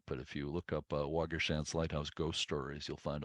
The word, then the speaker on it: Waugoshance: And Waugoshance, and I think that's how it's pronounced around there, is from a Native American word for fox.